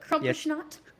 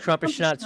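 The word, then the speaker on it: Krampusnacht: Well, we're gonna be actually at I'm gonna say it wrong, but Crumpishnot. Crumpishnot. I think that's might be right. I think crumpishnot's right.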